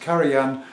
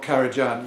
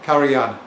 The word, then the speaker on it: Karajan: on my last video pointed out that it's pronounced Karan and not karajan yeah actually I know that and it's just